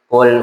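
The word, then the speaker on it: قل: Karena bacaan pertamanya dibacanya kaf bukannya qf. Qul huwallahu ahad. Yang tadinya dibacanya qul dengan qf. Katakanlah Allah itu satu. Dibaca kaf, makanlah Allah itu satu. Kan beda. Beda bacaan, beda arti.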